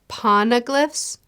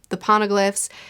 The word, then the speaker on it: Poneglyphs: Poneglyphs?